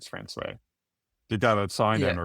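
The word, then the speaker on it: François: And people in France, France, so they pronounce it France.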